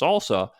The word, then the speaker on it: SLSA: There's a new industry collaboration called the Supply Chain Levels for Software Artifacts, or SLSA, pronounced salsa, whose URL is slsa.dev.